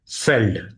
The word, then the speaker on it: veld: हैं हम एज अ फेल्ड। ठीक है। इट is written as VELD but pronounced as फेल्ड, जैसे फॉक्स वैगन है।